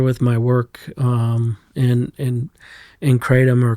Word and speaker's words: kratom: Yeah, so they were very familiar with my work in in Kratom or Kratom. I call it Kratom. I've sort of acquiesced to the American Kratom is really the way it's pronounced in Thailand.